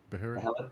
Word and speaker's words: Behelit: Is that the Beharit, pronunciation? Behelit. Beharit, whatever you want.